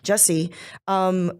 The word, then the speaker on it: Jussie: Whether or not is someone who is visible, like Jussie, is that how you say his name? Yeah, Jussie.